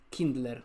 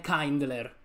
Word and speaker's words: Kindler: subito questa carta quasi pronuncia kindler o kindle non è kandler ok perché già già già già me lo sento dire gioco kind l'eroe kindler perché verrebbe su kindle può dire accendere in inglese quindi cominciamo così cominciamo